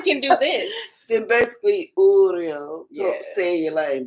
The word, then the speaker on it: Uriel: Child, he said, Uriel.